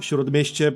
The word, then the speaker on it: Śródmieście: So, here we got Żoliborz, Praga, Wola, Śródmieście, Ochota, and Mokotów. That's how you pronounce all these names, by the way.